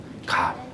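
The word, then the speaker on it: גאל: 여러분, 이 말씀에 나오는 구속이라는 단어는 히브리어로 갈이라고 발음하는 단어입니다. 갈.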